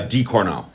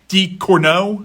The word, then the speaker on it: Ducournau: Ducournau. Ducournau, Yeah.